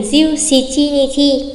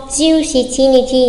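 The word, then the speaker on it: 十七日: 17 sẽ không phải là jiu nana mà sẽ thành jiu shichi nichi. Còn nếu cách đọc khác của số 7 không ạ là shichi đúng không? Jiu shichi nichi nhớ cho mình nha.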